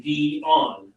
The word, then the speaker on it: Dionne: Betty says emphasis on the second syllable, maybe? Yes, yes, that's exactly right. So you say Dionne.